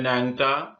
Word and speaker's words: ন্যাংটা: ন্যাংটা, অনুরূপভাবে উচ্চারিত হয়েছে ন্যাংটা।